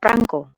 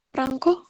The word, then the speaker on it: prangko: Perangko atau prangko? Mana yang baku? Ya. Ini sering digunakan untuk surat menyurat, tapi kalau malah ada yang koleksi perangko atau perangko. Yang baku yang mana? Ada yang tahu? Perangko. Perangko ini yang baku.